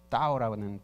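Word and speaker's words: 道: 중국 철학, 동양 철학으로 하면은 도 정도가 되겠죠. 따오라는 발음인데요.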